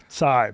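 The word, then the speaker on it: Cai: it's pronounced, so Really? yeah. So Kai, C-A-I is the Mandarin pronunciation of Yeah. it. Yeah, so Then it'd be like Tsai, but in Cantonese, it's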